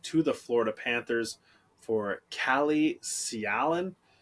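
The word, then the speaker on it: Calle Sjalin: the Florida Panthers for Kalle Sialan, I believe is how it's pronounced, and a conditional 7th-round pick for the Florida Panthers.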